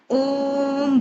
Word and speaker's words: ओम: अब ये ओम 3 वर्ड है, ओ उमा। तो ओम जब करेंगे तो आप अपने चित्त को या अटेंशन को आपने रीढ़ की हड्डी पे रखना है।